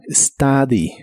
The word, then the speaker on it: study: de inglés es study la u se pronuncia como a study study Recuerda que no empieza con e sino con s study en el presente lo